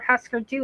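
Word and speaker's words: Hüsker Dü: Okay, so now we know he doesn't care what husker and or husker do is called. Yes, that U with the two dots over it is pronounced ooer.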